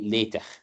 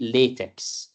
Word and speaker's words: LaTeX: Usually LaTeX is pronounced as lay, L-A-Y, and then tech. Or if you can say the kha, you can say LaTeX. Sometimes LaTeX, and that's the way we do it. We never say LaTeX. The X at the end, we don't pronounce it.